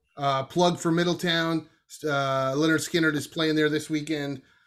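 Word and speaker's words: Lynyrd Skynyrd: 20 picks for the first two albums uh pronounced leonard skinner i'm not a huge uh southern rock fan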